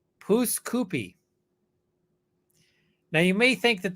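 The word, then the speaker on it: Pouce Coupe: of the town he lived in it's called pooskoopy now you may think that that means poo Scoopy and that's not how that's it's actually poos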